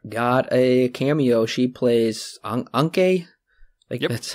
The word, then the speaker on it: Anke: She plays Anke.